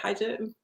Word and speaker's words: hijab: Hijab?